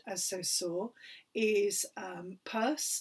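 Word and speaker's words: Peirce: so saw is um purse sometimes also pronounced as pierce and these two men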